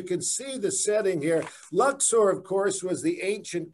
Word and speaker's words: Luxor: valley of the kings in luxor or as the locals pronounce it luxor this is one of